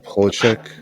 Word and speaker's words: Polachek: By Caroline Polachek.